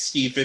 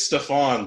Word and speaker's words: Stephan: his main stick with everybody pronounced his name wrong like I was like oh thanks Steven he's like it's Stephane but like or that her